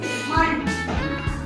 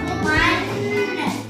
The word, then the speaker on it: மண்: இந்த நாக்கு பாரு. இந்த நாக்கு உள்ள வளையுது. இந்த வார்த்தையை சொல்லும்போது அழுத்தம் கொடுக்கணும். பாத்தியா, நாக்கு உள்ள போகும்.